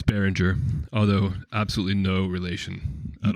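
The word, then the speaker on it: Beringer: the woods in California do we pronounce it the same yeah it's the same it's baringer although absolutely no relation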